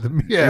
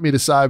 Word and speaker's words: meatus: But the one that they want, and some people I think pronounce it meatus, so we'll go in the middle with it.